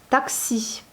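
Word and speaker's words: такси: Taxi. Donc là, vous voyez, on fait bien comme à la française. Le taxi, eh bien, on prononce comme taxi avec la syllabe, avec un accent sur la dernière syllabe.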